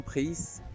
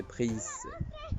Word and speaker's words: prises: Et même la lettre S est prononcée. Mais quand il n'y a pas d'accord, quand il n'y a pas la lettre E à la fin, je ne prononce pas la lettre S. C'est justement pris.